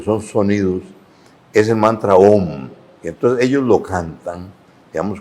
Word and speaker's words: om: o en voz alta la palabra om recitada largo, así om. M bueno, se hace un poquito más largo, pero en efecto esa